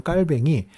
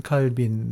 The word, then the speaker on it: 칼뱅: 한국에 계신 교인들에게 는 사실은 영어식 발음인 좋은 칼빈 으로 더 유명하죠 옛날 분들께는 요한 칼빈 이라는 아 사실은 정체불명 외 합성 헌데 요하는 독일식 내지는 라틴어 식으로 되는거고 타입 2는 영어식으로 읽은 거기 때문에 이 어떻게 연결되는